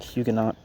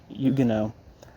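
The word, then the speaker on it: Huguenot: engle's more immediate me a Yugo I guess is how you say it um looks like hugenot but Yugo um who found refuge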